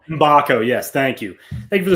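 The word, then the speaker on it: Mgbako: I believe it's pronounced Mbakco. Mbako.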